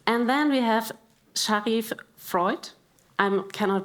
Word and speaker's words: Vreugd: And then we have Shariff Vreugd. I cannot pronounce it on the correct way, so I'm sorry about my...